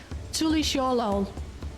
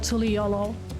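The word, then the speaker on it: Tuliyollal: It's interesting because Wuklamat pronounces it Tulisholol instead of Tuliolo, but she appears to be the only one.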